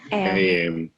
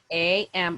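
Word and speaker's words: a.m.: do you pronounce that we say am am am you see am would just say the names of the letters am am very good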